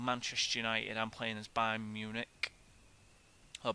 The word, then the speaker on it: Bayern München: I'm playing as Bayern Munich, or Bayern München, as they're actually pronounced.